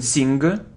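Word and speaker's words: sign: draft draft it isn't sing No it isn't sing it's Sin Sin so we don't pronounce it sin it does it isn't colleague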